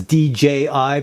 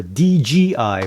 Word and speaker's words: DJI: And I'm trying to pronounce that as DJI because I'm Canadian, and when I say DJI, a lot of people hear DGI for some reason, but I'm always saying DJI.